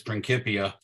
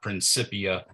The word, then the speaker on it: Principia: published this in his principia uh I remember in uh it was written in Latin and Latin has no Soft C so it's not principia uh it's got to be principia but the main thing